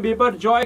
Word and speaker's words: Biparjoy: बीपर जॉय का नाम जिसका उच्चारण बीपर जॉय के रूप में किया जाता है यह नाम बांग्लादेश द्वारा